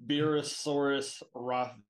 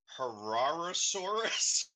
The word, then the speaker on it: herrerasaurus: got it is the wow how do I pronounce this beerusaurus Jack it's uh herrerasaurus uh Aaron um yes yes that's the